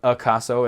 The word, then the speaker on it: acaso: So you have like words like acaso, which is spelled acaso, and it's not like acaso or acaso, it's acaso, and things like that.